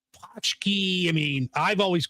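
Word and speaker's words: pączki: Is that how you pronounce it? Well, you could ask 10 different people, but punchki, Pachki.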